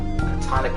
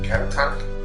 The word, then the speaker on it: catatonic: Wait, catonic shock? Is that how you say that word? catatonic.